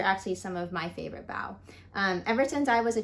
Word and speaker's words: bao: lets us know that bow is pronounced like to give someone a bow and not like bow like the kitty is wearing here is Amy looking